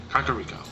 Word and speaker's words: Kakariko: Now this one is one that I pronounce right as it looks. Kakariko.